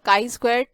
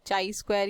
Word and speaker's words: chi-square: ठीक, अब डिस्कस कर लेते हैं काई स्क्वायर डिस्ट्रीब्यूशन के बारे में. देखिए इसको प्रोनाउंस काई स्क्वायर किया जाता है, चाई स्क्वायर या ऐसा कुछ भी नहीं बोला जाता है.